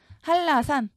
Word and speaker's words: 한라산: 첫 글자는 대문자로 씁니다 할라산 먼저 한라산이 명칭을 그대로 옮겨 줍니다 이때 발음 그대로 옮겨야 돼요 한라산 유마 일어나서 L이 왔죠 옮긴 다음에이 산이 의미하는